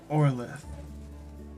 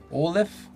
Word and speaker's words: Orleth: Orleth. Olive. I'm Orleth. Olive? Orleth. Olive. Gotcha. Ending in a TH.